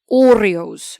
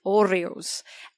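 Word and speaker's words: hórreos: about historic they have what is called Oreos now this is spelled with a h so h-o-r-r-e-o-s now the Orioles of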